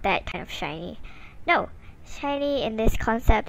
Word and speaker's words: SHINee: just just accept it just accept shiny like a group name yeah also it's spelled